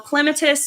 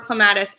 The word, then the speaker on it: clematis: Well, clematis or clematis, actually both are correct pronunciations, I learned.